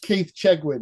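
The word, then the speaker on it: Keith Chegwin: It's pronounced Keith Chegin.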